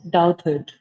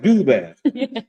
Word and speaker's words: Douthat: See, he doesn't pronounce it the way it looks. How does he pronounce it? Doubted. Doubtful. But if you see it, it's like do that, which I prefer.